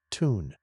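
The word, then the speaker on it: tun: They can enter a dehydrated suspended animation state called a ton pronounced ton shriveling up and drawing their limbs inwards.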